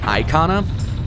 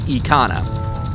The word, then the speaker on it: Ikana: Just in Japanese, the word I is always said as an E sound rather than well, I sound.